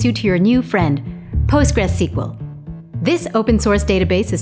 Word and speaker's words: PostgreSQL: name this is pronounced postgres sql but most people simply say postgres for short because let's be honest